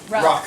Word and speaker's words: Ruck: Do we other pronounce his character Ruck or Rook? Ruck. Thank you. Like Ruck or ruckus. Like ruck this. Like a rucksack.